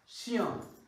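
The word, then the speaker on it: chien: ওকে, তাহলে উচ্চারণ দুইটা মিলে হয়ে গেল শিয়াম, উচ্চারণ হয়ে গেল শিয়াম। আহমেদ ফয়সাল পারফেক্টলি উচ্চারণ লিখেছেন শিয়াম।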